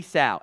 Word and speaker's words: Sow: so City so or sorry City South it rhymes with cow I have that in my notes my bad City South out of Eastern Michigan